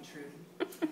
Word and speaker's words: Trudy: Please call me Trudy. Rhymes with booty, which I shake all night long while making pastries.